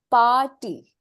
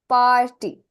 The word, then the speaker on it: party: so in the word party party okay the r is almost silent when you pronounce it in uh English you don't